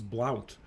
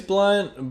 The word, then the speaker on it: Blount: I thought it was Blount. It is Blunt, but like it's spelled Blount, and Huh.